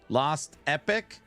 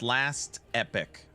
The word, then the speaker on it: Last Epoch: Lost Epic. Is that how you pronounce it? It's pronounced Last Epic, not Lost.